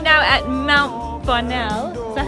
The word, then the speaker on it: Bonnell: Okay, so we're right now at Mount Bonnell.